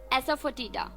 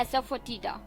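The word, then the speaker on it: asafoetida: नहीं है don't worry तो थर्ड वर्ड है एस फ टीड यानी कि पहले मैं स्पेलिंग बता देती हूं ए एस ए एफ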